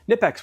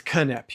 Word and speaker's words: Knipex: happy with them uh nipex or Kip it's Kip you're supposed to pronounce the k is it a corexy